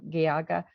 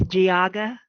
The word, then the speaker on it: Geauga: it's pretty good it's giaga county a soft g um but uh that